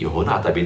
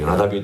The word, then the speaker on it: 여호나답: 어떨 때는 말의 발음이 여호나답이 되기도 하고 요나답이 되기도 하는데, 여기 선조 요나답이 우리에게 명령하여 이르기를 이렇게 명령했습니다.